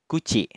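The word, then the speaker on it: 口: Cara penggunaan yang pertama, ketika kanji mulut berdiri sendiri seperti ini, dia dibacanya kuchi.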